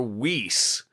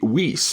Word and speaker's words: vis: I was taught in the 1980s a bit Weiss, because the Romans did not pronounce V with a V sound, with what we think of as a V sound. They pronounced it with a W sound.